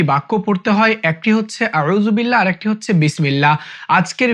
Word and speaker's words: আউজুবিল্লাহি: আলিফ টান দিতে হবে বিল্লাহি বিল্লাহি বিল্লাহি আউজুবিল্লাহি আউজুবিল্লাহি আউজুবিল্লাহি আউজু বিল্লাহি আউজুবিল্লাহি এরপর মিনাশ শাইতরটা উচ্চারণ করতে অনেকেই পারে না।